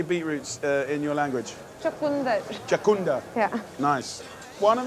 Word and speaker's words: chakunda: Chakunda.